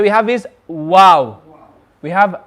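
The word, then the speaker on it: واو: letter we have is wow we have wow now the makharaj of wow is when the lips partially meet to form a small circle the lips partially meet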